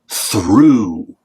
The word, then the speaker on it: through: This word is through. Through. So what does O-U-G-H sound like? It sounds like ooh.